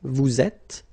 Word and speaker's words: vous êtes: nous sommes, vous êtes, okay, little liaison here, little link, vous êtes, ils sont, elles sont.